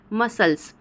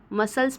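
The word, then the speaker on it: muscles: उच्चारण आ रहा है मसल्स मसल्स में भी देखिए एम यू एस सी एल ई एस आ रहा है तो सी का उच्चारण नहीं होता है सीजर्स में भी सेम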